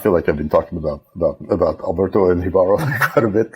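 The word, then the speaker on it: Jíbaro: I think it's pronounced Jibaro. Jibaro, yes, because he's Spanish, right?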